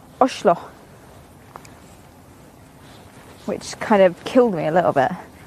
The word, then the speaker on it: Oslo: I get it wrong, but Oslo is actually pronounced Oshlo, which kind of killed me a little bit. And apparently, if you're a posh wanker, you say Oslo.